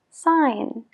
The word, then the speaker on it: sign: otras no por ejemplo la palabra firmar tiene una G antes de la n pero pronunciamos Sign I Sign you Sign he signs entonces en el verbo no pronunciamos esa g pero en el sustantivo sí signature signature signature Entonces tenemos Sign donde no se pronuncia la g y signature donde sí otro ejemplo practical la